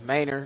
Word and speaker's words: Manor: I tell them they pronouncing it wrong, but it's Manor.